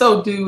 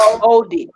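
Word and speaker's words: Odi: it says, is it Edie? It can be either ED or OD. Okay. Edie. How do you pronounce it? Yeah. I say OD. ED or OD. So I usually say OD.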